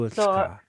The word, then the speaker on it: Chuutsqa: So Chuutsqa. so for the sound ka, Yeah. it comes from the back.